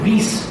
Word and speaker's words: Weiss: आता इथे काय आहे, इथे एक माणूस आहे तुम्हाला माहित नाही याची पुस्तकं तुम्ही वाचली आहेत की डॉक्टर ब्रायन वीस म्हणून एक माणूस आहे. वीस चं स्पेलिंग आहे WEISS आणि ब्रायन BRIAN.